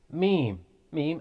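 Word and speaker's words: ميم: incisors next is me meme as if you're saying mom it's basically pronounced from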